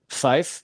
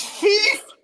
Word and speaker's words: Fief: I think the most prominent one being Fife. Am I pronouncing it correctly? It's Fief.